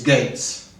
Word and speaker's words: Gaetz: important uh nomination is Gates sounds like Bill but it's not spelled the same um he's yeah without